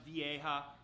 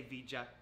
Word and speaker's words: vieja: I've received 18 Vita I know it's pronounced vieja I like to say VJ leave me alone oh